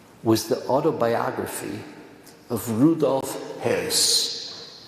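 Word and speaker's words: Höss: the autobiography of Rudolph Hess. Now, it looks like Haas, but there's an umlaut over the O, so it's pronounced Hess in German.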